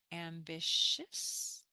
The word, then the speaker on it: ambitious: This I becomes a Y in the English, and this C is a T. Pronounced sha, ambitious.